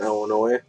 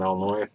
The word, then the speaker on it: Illinois: to say is from illinois the s is silent it's not all noise but uh yeah the drummer i believe is from illinois and the rest of